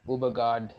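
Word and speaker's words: Ødegaard: madrid that's a martin ode guard uber guard as they pronounce in norway i suppose is uh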